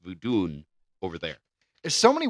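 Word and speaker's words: Vodun: So it was it's pronounced voodun over there.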